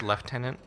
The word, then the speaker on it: Lieutenant: it's not it's not we're in Canada it's pronounced leftenant these are the most